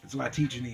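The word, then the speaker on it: Zlatičanin: The undercard was the returning Mikey Garcia against Dejan Zlatichny. Zlatichny is the way you say his name.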